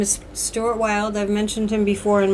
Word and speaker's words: Stuart Wilde: And Stuart Wilde, his name is spelled S-T-U-A-R-T, and Wilde has an E on the end, W-I-L-D-E.